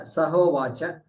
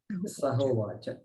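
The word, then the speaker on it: सहोवाच: Sa Uvacha, Sa Ha Uvacha. Yeah, Sahovacha. Sahovacha. Sahovacha Pitaram. That is how we chant it.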